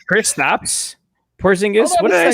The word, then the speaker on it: Kristaps Porzingis: Christoph Porzingis. Christoph. Try again. I was going to say try again. Love those Europeans, and I love the Europeans. Just don't know how to pronounce the names. I mean, should we have Kristaps Porzingis?